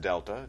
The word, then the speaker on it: Delta: over change in X that triangle which is pronounced Delta just a a Greek letter that means change